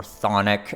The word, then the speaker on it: chthonic: broken, then all of this chthonic, or chthonic, as some people insist upon me pronouncing it, all this kind